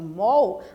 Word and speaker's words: mall: eu digo o Shopping Mall aí é o shopping center no local que nós vamos para fazer compra então Mall também a gente escreve com a mas nós somos pronunciar com a letra O tão Vou encher o